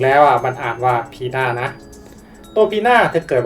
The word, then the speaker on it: Pina: แต่ จริง ๆ แล้ว อ่ะ มัน อ่าน ว่า พี่า นะ ตัว พี่า เธอ เกิด วัน ที่ 3 พฤศจิกายน มี ส่วน สูง ที่ 165 ซม.